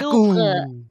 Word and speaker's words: Louvre: Vâng, đọc là Louvre.